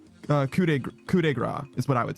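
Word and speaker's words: coup de grâce: Oh, because okay, so the actual pronunciation, as we would say it in French, would be coup de grace. Okay. So very similar.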